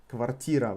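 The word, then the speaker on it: квартира: apartment IRA t ra covertira with the emphasis on E what would be the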